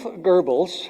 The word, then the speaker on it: Goebbels: Well, Joseph Goebbels, that's the way you pronounce it, Nazi propaganda minister, who I regret I'm quoting, but nonetheless made a brilliant observation about media.